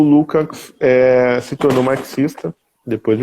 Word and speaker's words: Lukács: inteligente e pouco ortodoxo, que era o George Lukács, ou Lukács, né, como se fala, o Georg Lukács, que tinha uma série de textos.